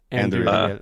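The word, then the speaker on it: Andúril: I think it's Anduril. Like you're supposed to roll Anduril. Anduril. Okay. So it's of course, as we all know. No, I'm just kidding. So Anduril is reforged from the sword that was broken.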